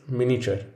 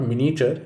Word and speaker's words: miniature: the next word is miniature it is not miniature it's miniature here's another word frequently syncopated don't leave out the third syllable a the next word